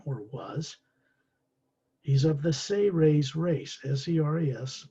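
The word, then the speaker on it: Seras: He's of the Say-Rays race, S-E-R-A-S, pronounced as if it's spelled S-A-Y-R-A-Y-S.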